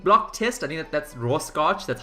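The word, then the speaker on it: Rorschach: scotch in ink block test i mean that's raw scotch that's how you pronounce it ink blot test so literally like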